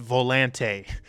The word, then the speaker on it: Volante: this is Volante and yes it is it is pronounced Volante you will see that it is pronounced that way in a video we're